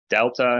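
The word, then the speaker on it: δέλτα: English has two different ways of pronouncing the TH. This is the version which sounds more like the D. So delta, if you want, or delta.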